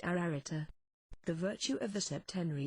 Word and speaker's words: Ararita: a triple and double repetition this word is pronounced ararita the virtue of the septenary is absolute in